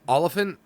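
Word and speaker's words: Olyphant: what spelled like olefin I've heard his Oliphant like the town up here in PA it's not an elephant an elephant it's not elefante yeah I always said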